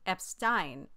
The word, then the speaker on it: Epstein: of people who have been recorded saying EP Stein during the time when